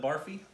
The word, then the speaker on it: Barfi: And so, is that how you, would you pronounce it? Barfi? Yes, barfi. Barfi.